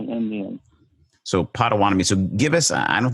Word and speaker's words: Potawatomi: the indian tribe what was it yeah the potawatomi indians so potawatomi so give us i don't think we have